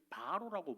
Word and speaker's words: 파라오: 파라오. 파라오는 우리 성경에 바로라고 번역했어. 바로. 발음을 바로라고 하는데 파라오입니다.